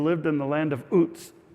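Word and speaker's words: Uz: There was a man who lived in the land of oots.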